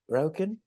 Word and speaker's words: ryokan: Is that how you pronounce that? Ryokan?